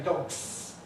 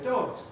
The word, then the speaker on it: dogs: Yes, they say, I heard some dogs, or whatever, dogs with that noisy S at the end. In real English, we say dogs, dogs, dogs.